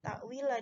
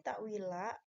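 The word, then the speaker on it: تأويلا: Nah, ta'wila di sini ada beberapa yang membacanya itu ta'wil. Itu salah ya. Ketika di sini ta'wila, asal katanya adalah ta'wilan.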